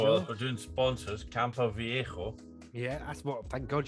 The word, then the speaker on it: Campo Viejo: Oh, well, if we're doing sponsors, Campo Viejo. Yeah, that's what. Thank God you pronounced that correctly.